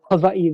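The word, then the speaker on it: Hawaiʻi: I guess I uh I visited Hawaii this year or Havi this year okay and so I I got to visit the um kamaka ukulele Factory which was a really cool experience and so I figure I should uh try to pronounce it like the native uh Hawaiians do absolutely did you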